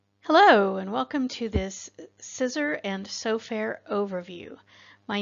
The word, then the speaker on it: CISR: As an acronym, that's CISR, and we pronounce that as CISR, just like those things that we cut paper with.